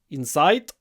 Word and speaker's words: insight: that Russian people say insight and the way we say Insight Insight firstly it's an Insight the stress is on the first syllable in so you need to